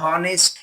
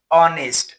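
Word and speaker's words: honest: এইটার উচ্চারণ কিন্তু হনেস্ট নয়, এটির উচ্চারণ অনেস্ট। এইচ এর উচ্চারণ সাইলেন্ট থাকবে, সুতরাং অবশ্যই আমাদেরকে এখানে অ্যান নিতে হবে।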